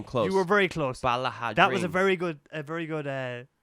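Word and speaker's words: Ballaghaderreen: Balahadrine.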